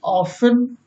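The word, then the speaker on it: often: टी कब silent रहती है? देखें, कैसल मीन्स किला, लिसन मीन्स सुनना, ऑफन मीन्स अक्सर, सॉफन मीन्स कोमल, विशल मीन्स सीटी बजाना, बाज मीन्स घड़ी।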